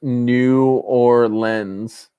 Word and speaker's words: New Orleans: and when the world ends New Orleans is pronounced New Orleans New Orleans New Orleans New Orleans aye care